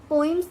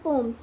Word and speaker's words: poems: पोइम्स नहीं हम pronounce करते, उन्हें हम प्रोनाउंस करते हैं पोम्स। मैंने पोइम्स पहले क्यों बोला? क्योंकि सबसे पहले मोस्ट ऑफ द पीपल जो है वो यही मिस्टेक करते हैं, that they pronounce पोम एज पोइम। पोइम नहीं बोलते हम, पोइम्स नहीं बोलते, we pronounce it like पोम।